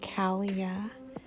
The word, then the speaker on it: Kalia: Then we have Kalia. So it's like Talia, only it's with a C. So Kalia.